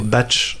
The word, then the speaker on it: BATX: Alors, comme ça fait batch. Exactement, ça fait batch puisque le X se prononce ch.